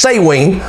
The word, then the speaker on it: Samhain: day that they worship that had celebration for say Wayne it's spelled sa m and H AI n Samhain but it's pronounced say Wayne Lord of the Dead who in the Roman